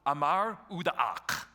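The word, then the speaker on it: Amar-Utuk: So, Amar Udaak, all right? Amar Udaak. So give me an Amar. Give me an Uda. Give me an Ak.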